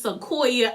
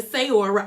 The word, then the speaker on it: Sequoia: And I'm like, yo, her name is Sequoia. I was saying Sayora. I don't know where I got Sayora. I really don't.